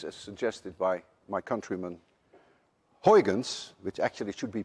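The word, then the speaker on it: Huygens: consist of waves as suggested by my Countryman Hans which actually should be pronounced hens and none of you can say hun and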